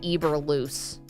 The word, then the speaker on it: Eberflus: I'm laughing because the copy here says Matt Eberflus.